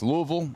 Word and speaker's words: Louisville: It's Louisville and that's how you say it.